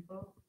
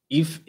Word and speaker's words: Ife: Oh, so you Ifo? Huh? You Ifo? No, my tribe. So basically. My tribe is Yoruba. Ife.